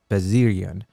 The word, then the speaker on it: Vezirian: He said, "My last name is pronounced Vezirian, but switched to with the W, I guess, Vezirian in Lebanon, where my parents are from.